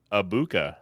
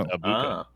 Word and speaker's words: Egbuka: And also his last name's pronounced Abuka. There's no G in it. Just Abuka. Okay. Abuka.